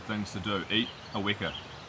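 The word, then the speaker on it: weka: Eat a wicker. It's spelt W-E-K-A, and it's not a kiwi.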